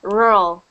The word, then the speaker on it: rural: but it's in English it's rural R it's there it's really difficult for me to enunciate it because it's said quickly but you just say it rural but you say it quickly so it sounds like rural rural yes very funny